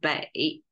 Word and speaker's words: 背: It's more carry the essential meaning of it, because bei is the noun form pronunciation, which is falling tone, which is the back.